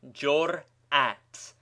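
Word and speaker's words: جرأت: As example, we may take the word jur'at, pronounced jur'at, with a distinct hiatus between the two syllables and a fresh impulse, hamzeh, before the second half of the word is pronounced.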